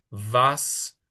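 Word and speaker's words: was: de las preguntas importantes empiezan con la w, que es un v. Entonces es como vi, vojea, vas, varum, visó, vojin.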